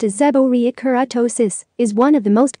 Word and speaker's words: seborrheic keratosis: treat it what is seborrhea kurtosis seborrheic keratosis pronounced as a borya keratosis is one of the most common non cancerous